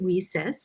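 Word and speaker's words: WiCyS: which is w-i-c and we pronounce it we sis like we sisters because that's exactly what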